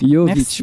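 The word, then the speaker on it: Jović: rejoindre Simona Jovic Simona Jovic Jovic Yovic parce que le J se prononce Y et euh comme il y a qu'en français qu'on prononce J.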